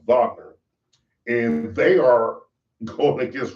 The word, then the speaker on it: Wagner: It's spelled Wagner, but it's pronounced Wagner.